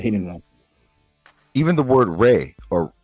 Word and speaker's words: Ra: in the Coptic, yes, you'll probably be pronounced Ray indeed, but according to the transliteration of the Medu Neter, it will be Ra.